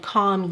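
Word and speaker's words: kahm: a film of white what's called calm yeast k a m is how it's spelled you'll have that kind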